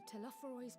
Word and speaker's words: Telophoroi: Come what may, we must prevent the Telophoroi's plans from coming to fruition.